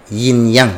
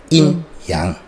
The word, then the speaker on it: yin yang: keseimbangan yin yang kalau bahasa Indonesia, tapi bacanya harusnya yin yang.